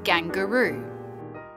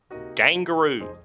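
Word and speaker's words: gangurru: in far north queensland the traditional pronunciation of the word is gangaroo gangaroo how many different types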